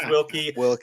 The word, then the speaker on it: Wilke: very special guest Scott wilky not with an ie as I learned earlier today even though it's pronounced wilky no I right there